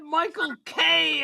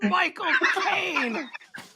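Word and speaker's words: Michael Caine: word at a time I thought he said Michael K at first it's Mich Caine somebody also said to me if you said if you say my cocaine that's how Michael Kane say his name Mye my and my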